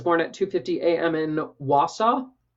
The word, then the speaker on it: Wausau: in Wausau Wausau I think that's how you say it wasa it's like you saw but wha let's look at